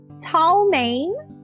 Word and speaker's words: chow mein: I think Chow Mein is supposed to be pronounced Tao Mein.